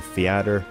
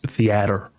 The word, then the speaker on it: theater: game is a fatter I'm just saying in my 30 years on this Earth I've never heard someone pronounce it the theater theater that is that is unique to Albert Boris extremely